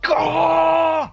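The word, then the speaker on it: Scáthach: They're like, it's pronounced Scahah.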